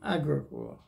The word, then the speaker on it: Agricola: would say Agricola, but they say the pronunciation of all Finnish words is on the first syllable, strong accent on the first syllable. So it'd be Agricola, but I'm going to